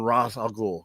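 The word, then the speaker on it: Ra's al Ghul: Ra because it's it's derivative from Rah. Yeah. Yeah. You don't when you when you say the god you when you say the Egyptian god, you don't say Ry. I do. Hey, anybody that studied Egyptology, do they say Ry?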